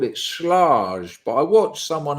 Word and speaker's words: Schlage: Schlage, long A, hard G. Are you just calling me names now? Am I the hard G? Right, long A, Schlage, Schlage, Schlage. That's it, isn't it? Schlager.